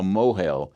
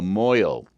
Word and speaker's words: mohel: was called being a mohel. In Yiddish, they pronounce it a moil.